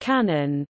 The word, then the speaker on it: 観音: In Japanese, Guanyin is pronounced Kanon, Guanyin occasionally Kanon, or more formally Kanzian, Guanxi Yin, the same characters as Guanxian.